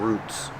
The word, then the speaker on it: roots: has a lot of roots pronunciation make the long ooh ooh like food roots one root and two